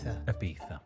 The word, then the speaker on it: Ibiza: I don't want to give it away all over again, but the name place rhymes with pizza, and we plan on doing a lot of dancing. Pizza? Ibiza.